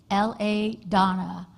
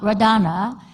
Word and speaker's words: LaDonna: So, which is a disservice to, if you're familiar with the Japanese language, there's no L sound. So my grandparents could never say my name. It came out Radana.